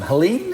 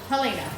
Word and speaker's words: Helene: What was the correct pronunciation of the last one? Helene? Helene, not Helena.